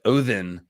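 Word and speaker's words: Óðinn: three months props on pronouncing the uh the d with a squiggly mark in odinn correctly yeah yeah i i did some amount of pronunciation research when i did the odin origins video um some of them are easier to remember than others but odinn sounds more sounds more divine and terrifying than odin odin makes me think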